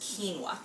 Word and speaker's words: quinoa: It's spelled quinoa, but it's pronounced quinoa.